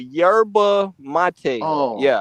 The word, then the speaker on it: yerba mate: Oh no, it's called yerba mate. Yerba mate. That was called. Oh, I thought it was called yerba mate.